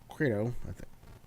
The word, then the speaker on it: Crito: The evening before the Crito, that's how you say it, Crito opens, the galley had been sighted, and very